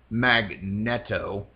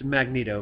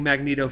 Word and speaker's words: Magneto: on the show his uncle Stanley who who pronounced it uh magnetto all right but but I rebutted because I